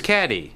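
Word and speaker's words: Cady: Her name is Caddy, Caddy Heron. Where are you, Caddy? That's me. It's pronounced like Katie.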